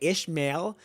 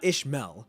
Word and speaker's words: Ishmael: Also, I already owned up to it, but I didn't realize that how you say Ishmael, you gotta pronounce the heavy A. It's the E is silent. It's not Ishmael, it's Ishmael.